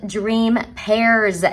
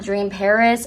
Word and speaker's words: Dream Pairs: said their name wrong they are called dream pairs not dream paris i am i just